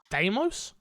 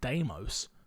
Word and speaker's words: Deimos: Deimos. Deimos. D. See, because D-E makes the D sound in my head, and then I-mos. Demos. Was how I'd say it more. If I was sounding it out phonetically.